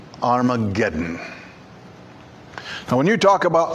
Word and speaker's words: Armageddon: in the old testamento this is the Greek spelling of it this is the Greek pronunciation of it Armageddon it's a place it's